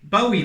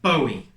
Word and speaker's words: Bowie: of blade and it is of course a bowie knife but hang on a second I'm on